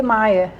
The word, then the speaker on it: Meia: Quando se escreve Meia, em alemão se lê Maier.